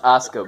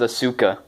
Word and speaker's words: Asuka: It's pronounced Asuka, bro.